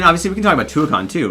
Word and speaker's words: Tuacahn: And to say, I believe it's Tuacahn. I know we have said it wrong, and people have scolded me about it. But yes, I think it's Tuacahn.